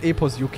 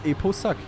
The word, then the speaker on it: Eposuck: It's not Epos UK, it's Eposuck. Easy as that.